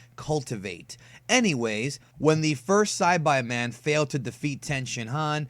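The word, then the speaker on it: Saibamen: in the soil and yes folks the correct pronunciation is s by men which means cultivate anyways when the first Side by man failed to defeat tensin Han Vegeta didn't want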